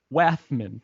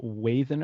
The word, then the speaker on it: Wathan: The M is like anti-silent. You know, it's like pronounced but not written. Right. It's the opposite. I first called you Wathan, I think.